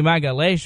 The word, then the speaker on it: Magalhaes: Vinny Magalhaes.